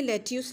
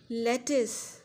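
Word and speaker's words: lettuce: इसकी तो correct pronunciation है ब्रेकफास्ट। आज मैंने सलाद में लेट्यूस लिया। लेट्यूस नहीं भाई, लेटिस, लेटिस।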